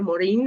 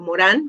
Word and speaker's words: Morin: como un hombre del Renacimiento, que es Edgar Morin o Morán, como ustedes lo quieran pronunciar.